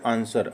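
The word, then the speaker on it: answer: है which is a silent letter in the word आंसर। अब आंसर में silent word कौन सा है? तो साइलेंट वर्ड आप सबको पता है इसमें क्या है? डब्ल्यू।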